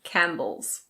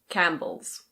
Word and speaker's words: Campbell's: This is Campbell's. Campbell's. Yes, the P is completely silent. We don't say CamPbell's. We say Campbell's. Campbell's.